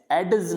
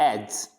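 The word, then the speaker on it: edge: एज, एडज नहीं पढ़ना इसको, एडज, कहीं आप डी को भी घुसेड़ दो साथ में, एडज, एडज नहीं पढ़ेंगे, क्या पढ़ेंगे, एज।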